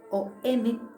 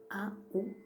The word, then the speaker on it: AUM: Que actualmente se pronuncia y se escribe OM, OM, pero tradicionalmente se escribe y se pronuncia, se canta su sonido, es AUM.